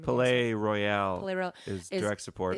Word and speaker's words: Palais Royale: And like with this one, we kind of did a combo because we have Bisto Blanco and then pronounce their name. again. Palais Royale Palais Royale is direct support.